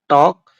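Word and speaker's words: talk: टॉक चौक और कॉफ इन सब में भी एल साइलेंट है।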